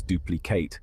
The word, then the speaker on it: duplicate: We pronounce it as duplicate with the stress on the first syllable.